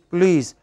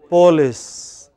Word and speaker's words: police: our researchers found that when you don't pronounce P oh l IC e how should it be pronounced please but many people from Maharashtra Andhra pronounce it as Paulists you remember that famous